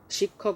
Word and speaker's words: শিক্ষক: শিক্ষক উচ্চারণ হচ্ছে শিক্ষক, প্রথমে ক এরপরে খ, শিক্ষক।